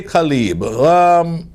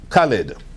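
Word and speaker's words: Khaled: now, just like them, DJ Khalib, I'm pronouncing his name right? Khalid.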